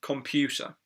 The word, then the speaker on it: computer: most important computer computer so the second syllable computer is the one that stressed there you computer computer